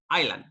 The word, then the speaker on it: island: pronounce is Island okay we don't say Islam its Island okay we omit the s ya know a similar